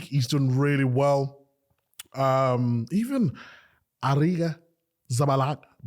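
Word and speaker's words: Arrizabalaga: Even Ariga Zabalaga. How do you pronounce it? Aretha Balaga.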